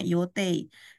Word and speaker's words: 予定: 3番は山田さんが私が乗る予定。予定ini yote kanjinya bacanya yote.